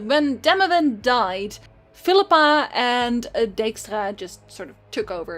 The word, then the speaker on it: Dijkstra: sorceress, and you have Sigismund Dijkstra, or Dijkstra, which is like the Dutch pronunciation.